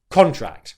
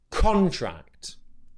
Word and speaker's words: contract: Okay, so stress on the first syllable, con, and then with the second syllable, I want to make sure that you're not letting your tongue touch the roof of your mouth for the R sound. Okay, contract, contract.